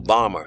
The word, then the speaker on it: Balmer: The writer of that article is Randall Balmer. His last name is spelled B-A-L-M-E-R.